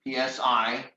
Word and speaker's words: psi: And again, this is the Greek letter psi, psi. Psi is it's pronounced kind of like you say the word sigh, psi, right?